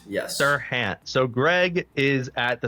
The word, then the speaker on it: Serhant: Greg, what is the, how do you pronounce his name? Is it Serhant? Serhant, yes. Serhant.